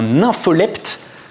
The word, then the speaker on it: nympholepte: Il a essayé de mettre en place des stratégies de prédation, puisqu'il se présente lui-même comme un nympholepte, comme ça se prononce.